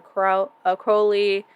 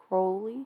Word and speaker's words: Crowley: Is it Crowley or Crowley? Crowley. I say Crowley.